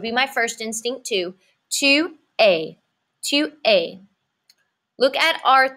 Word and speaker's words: tu es: Tu es. This es is not pronounced s. That would be my first instinct too. Tu es.